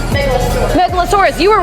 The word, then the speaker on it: Megalosaurus: it out there you remember metaurus Megalodon right Megalosaurus Megalosaurus you were right I'm sorry you were right I'm wrong Megalosaurus Megalosaurus that megasaurus is that a Megalosaurus too no afro caurus